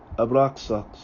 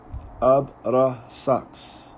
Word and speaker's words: Abrasax: Classical: Kyrie Abraxas. Erasmean: Kyrie Abrasax. Modern: Kyrie Avrasa.